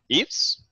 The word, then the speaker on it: Yves: I'd like to pass it on to Yves. Is that how you pronounce it? Yes, nice.